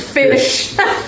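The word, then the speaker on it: Phish: If you've never No, it's not spelled f i sh. It's spelled ph i sh. And you can see it on the drum set where it says fish.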